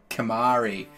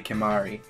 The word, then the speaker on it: Kumari: and key mihari welcome Kumari ci I've pronounced that wrong it's definitely Kumari so that was all